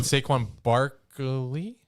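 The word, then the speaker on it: Saquon Barkley: you for apologizing yeah anytime um and then saquin Barky that that's how you say his name there's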